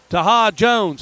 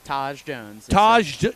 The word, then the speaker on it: Taj Jones: Taha Jones. Is that how you say his name? It's Taj Jones.